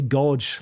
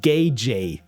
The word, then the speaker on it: gauge: I always say goge like godge your eyes out. It's it's pronounced gage gage.